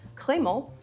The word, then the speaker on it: Crémant: They sound pretty similar, right? So this is a little tricky, but Crémant, which is spelled C-R-E with the accent aigu, M-A-N-T, is very different than Crémant, which is spelled C-R-A-M-A-N-T.